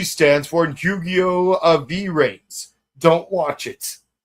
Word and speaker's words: VRAINS: V-Rains. Don't watch it. It's pronounced Vrains, though.